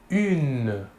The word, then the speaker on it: une: Pour l'article indéfini féminin singulier, nous utiliserons l'article une. Une. Il s'écrit U-N-E. Il faut bien différencier la prononciation entre le masculin et le féminin. Au masculin, un, et au féminin, une.